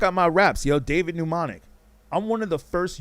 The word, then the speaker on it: Mnemonic: You know, mnemonic with an M, M-N-E. You almost got it. M-N-E, M-O-N-I-C. So the first M is silent.